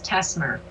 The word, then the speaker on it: Tessmer: one of the names Joshua how do you pronounce his last name Joshua's last name is Tesmer Tesmer okay sorry and Jen's is feierstein feierstein